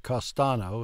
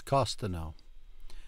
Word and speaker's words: costo: are the admission tickets Costo not costano it's Costo emphasis is at the